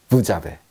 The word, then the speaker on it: vous avez: 자, 얘는 왜 우리가 부즈라고 하지 않고 부라고 하나요? 프랑스어에서 마지막 자음은 발음하지 않는다. 기억나시죠? 그래서 부즈라고 안 하고 그냥 부라고 하는데 뒤에 아베랑 붙을 때는 자베가 됩니다. 그래서 합치면 부자베. 부자베.